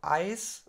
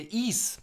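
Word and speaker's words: Ys: Ne, Ease. Ease? Ease. Ease mit so einem Kann scharfen sein, S. Genau, ja. also ich habe mir irgendwie gemerkt, dass das I normal ausgesprochen wird und dann das S so ein bisschen lang, so Ease.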